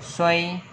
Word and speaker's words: 睡: Chữ ngủ đọc là xoay.